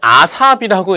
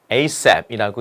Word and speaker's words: ASAP: 어떤 친구는 이거를 아삽이라고 읽던데 아삽이 아니라 ASAP이라고 읽으셔야 됩니다.